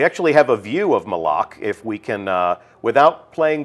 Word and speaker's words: Malak: And that is Malak. Malak. Right. Official pronunciation confirmed. So Malak. if you hear anybody saying Malak, send them right here to the archive of this stream. Our design lead has told us it's Malak.